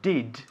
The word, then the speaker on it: did: No, está bien, pero el verbo auxiliar did no está muy claro. Estás diciendo did con la lengua.